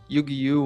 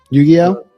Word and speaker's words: Yu-Gi-Oh: No, I I used to play uh Yuiu when I was a kid. Yu-Gi-Oh. Yeah. Well, that's how that's how I pronounced it. I don't know. Yu-Gi-Oh. I think that's the only way to pron I think that's the way it's pronounced.